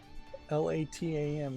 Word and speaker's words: LATAM: LATAM is how it's spelled. Almost like platinum.